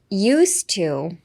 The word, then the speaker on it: used to: Hi, so pronunciation. Used to.